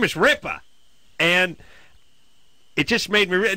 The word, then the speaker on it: Ripa: You're mispronouncing the person's last name. It's not Ripper.